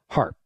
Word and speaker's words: HAARP: known for his work and published materials surrounding harp that's spelled ha A A RP however he is